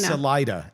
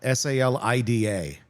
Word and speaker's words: Salida: Salida. S A L I D A. Really? See, I would have totally pronounced it the other way.